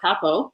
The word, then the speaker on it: Papou: So just to kind of back up a little bit, my name is Pa-Pow, but I like how you say it better.